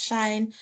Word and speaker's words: sinh: Sine h or sinh, or hyperbolic function of a, what's this? Of x, or pronounced as shine.